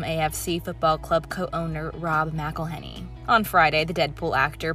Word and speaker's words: McElhenney: It's McElhenney, McElhenney. What ways to massacre and mispronounce it, there are many.